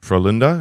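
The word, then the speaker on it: Frölunda: people who don't know for Linda is that correct pronunciation how's yeah that's good it's good might might have to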